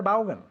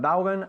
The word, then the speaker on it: Vaughan: ¿Y cómo se pronuncia en realidad? No se dice Vaughan, aunque aquí sí. Se dice Vaughan. Vaughan? Vaughan, así. Pero como nadie lo hace bien aquí, Vaughan. insistimos con Vaughan.